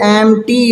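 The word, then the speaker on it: empty: तो बेटा ये एम्पटी नहीं होता। ये एम टी आप इसको पढ़ें। इसका पी जो है ना वो साइलेंट होता है।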